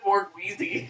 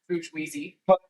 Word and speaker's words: bourgeoisie: It's pronounced Bourgeoisie.